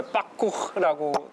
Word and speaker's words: parkour: 그 파쿠르가 불어 발음이에요? 예, 파쿠르라고 굉장히 어려운 발음인데 예, 어.